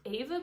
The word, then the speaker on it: Aeva: I'm gonna kind of do a first impressions wear test-ish of Aeva Beauty, I believe it's pronounced A-E-V-A.